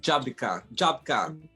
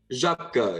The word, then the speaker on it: Żabka: It is, they just look at something and they just go like Żabka. Like Jabika. Żabka, yeah.